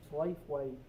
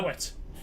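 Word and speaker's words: Slaithwaite: Slafeway. Oh, Slafeway. Now, if anyone was English, that is probably how it should be pronounced, but it's not correct. True. It's I know. Slowett.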